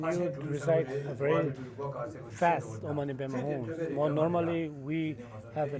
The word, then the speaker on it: Om Mani Padme Hum: We have a tendency of escaping this first syllable and last syllable.